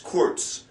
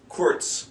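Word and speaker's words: kurz: so the words are quz un long when you see a u in German it's kind of like a double o sound for us it's not a r not CTS it's quz quz and long they L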